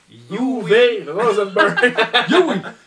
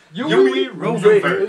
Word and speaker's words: Uwe Rosenberg: Comment qu'on prononce son calice dedans? UV Rosenberg. Yui Rosenberg.